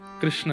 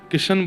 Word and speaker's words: कृष्ण: कृष्ण, इस शब्द का उच्चारण कई लोग शुद्ध नहीं करते, क्योंकि शुद्ध कर लेंगे तो फिर भगवत प्राप्ति हो जाएगी। इसलिए सब लोग इस नाम को, कोई किशन बोलता है, कोई कृष्ण बोलता है, कोई कुछ बोलता है,